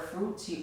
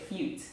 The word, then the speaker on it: fruit: So she could never pronounce the word fruit. She always said fute. Right. So when I came across the word fruit in the book, instead of saying fruits, which I've always said, I've never said it